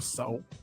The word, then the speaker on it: Tso: no different than General Tso chicken. Everybody knows it's pronounced General. I know that it's pronounced General So. I know that. But I like to say General Tso.